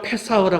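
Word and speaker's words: פסח: 유월절을 제가 페사오라 그랬죠. 페사오. 근데 헬라오로는 파스카야. 히브리어로 페사오인데 예수님 당시 때는 언어가 아라모예요. 아라머는 파스하라 그래요. 파스하. 그래서 파스하를 적다 보니까 이게 파스카 이렇게 이제 발음을 하게 된단 말이죠.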